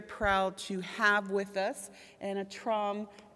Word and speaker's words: Anh-Tram: It's full spectrum here, and we are very proud to have with us Anh-Tram. Am I pronouncing on? Anh-Tram. Anh-Tram. Your chum.